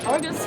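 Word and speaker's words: Arrghus: And that is the only correct way to say his name. Yep, Argus with 3 R's. That's his name.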